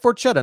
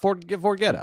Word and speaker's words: Forchetta: I like Forchetta, not Forgetta.